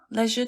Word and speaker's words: leisure: Yeah, leisure time.